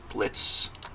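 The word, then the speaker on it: Blitzo: characters first we have blitz b-l-i-t-z-o but the o is silent he is an ex-circus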